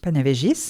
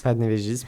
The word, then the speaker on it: Panevėžys: Panevėžys. Panevėžys, merci. Ah, merci pour la prononciation des villes, parce que c'est vraiment une prononciation lituanienne.